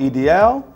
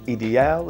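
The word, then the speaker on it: Idéal: is L'Homme Ideal or Ideal. I have to pronounce it both ways for the trolls. If you're fancy, you say Ideal. If you're not fancy, you say Ideal. Either way, it works for me, and I think you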